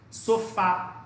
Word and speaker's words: sofá: Por exemplo, sofá é uma palavra oxítona, por quê? Você dá ênfase na última sílaba.